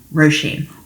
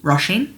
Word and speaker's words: Róisín: That is pronounced Róisín, or Róisín. Róisín is also correct.